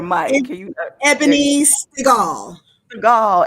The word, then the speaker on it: Stigall: Stigall, Ebony, like Steven Seagal, but Stigall, Ebony Stigall. With a T, yes, Stigall, yes.